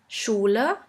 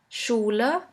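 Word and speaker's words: Schule: In English, you would simply pronounce it like in the word sheep. sheep and in German we have the word schula schula which means school.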